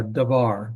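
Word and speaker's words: דבר: some exceptions obviously uh darar that's the word we're just looking at it means word and so the accent on the last syllable darar dear darar okay in the book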